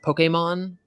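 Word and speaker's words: Pokémon: doesn't put the accent over it technically it's pronounced Pokemon but since I've never said it that way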